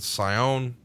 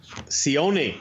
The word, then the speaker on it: Sione: Plus, we've got the bad guys, which is the 1, 2, 3 Kid, British Bulldog, Fatu, Razor Ramon, and Sion. I pronounced that all wrong. Sione.